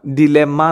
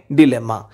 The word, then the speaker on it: dilemma: അതിൻ്റെ ഉച്ചാരണം ഡിലെമ്മ എന്നാണ് കേട്ടോ, DILEMMA, ഡിലെമ്മ.